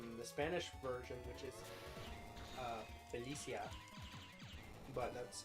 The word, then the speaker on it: Felicia: Then there's the Spanish version, which is Felicia. But that's how you actually pronounce it.